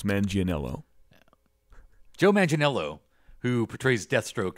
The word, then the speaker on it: Manganello: yeah is that it yeah yeah manginello now it seems like the I'm not pronouncing one of the syllables some people say making more Italian manang L but mananga is fast and works as well Mana or manello manello